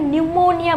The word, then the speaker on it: pneumonia: पर क्या पढ़ना है यहां पर जो स्पीड है वह साइलेंट है इसलिए उसको क्या बोला है न्यूमोनिया बोला गया है क्या